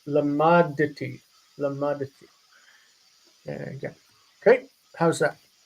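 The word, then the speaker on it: למדתי: So we need to pronounce that dalet with a vocal schwa, even though it's in the situation where it should be silent. Not lamadti, but lamaditi.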